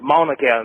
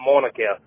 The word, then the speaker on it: Mauna Kea: IT'S PRONOUNCED MAUNA KEA, NOT MAUNA KEA. BUT I LOVE YOU GUYS SO. AND I'M ACTUALLY UP ON MAUNA KEA RIGHT NOW.